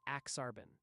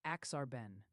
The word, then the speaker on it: Aksarben: Aksarben is literally Nebraska backwards, and folks are wondering about the pronunciation, too. It's usually Aksarben. Okay, Aksarben, and it's Nebraska backwards. Aksarben. It's Nebraska spelled Aksarben. Is that better? Exactly. It's Aksarben.